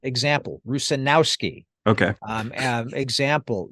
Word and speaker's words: Rusanowsky: Try to sound it out, and generally, not always, but generally, the accent, the accented part of the name is on the second to last syllable. Example: Rusanowsky.